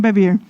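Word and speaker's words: Bevere: se llama John bevier se escribe b e v e r e bever pero en inglés John bevier y John B lo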